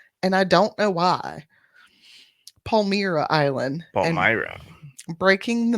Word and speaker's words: Palmyra: Palmyra. Sorry. I want to call it Palermo, and I don't know why. Palmyra Island.